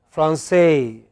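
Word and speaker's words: Français: In French, it is always the last syllable. So, they pronounced Paris. Okay? They always, in English, sorry, in French, they pronounce it as Francais. They pronounce it as Francais. Okay? It is always the final syllable, no exception.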